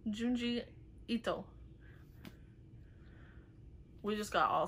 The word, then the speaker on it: Junji Ito: Is it Gio? Is that how you pronounce it? Junjito. By. What? Juni? Junji. Junji Ito.